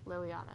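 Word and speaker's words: Leliana: report Lil Liliana yeah Liliana is how you say that I'm going to mess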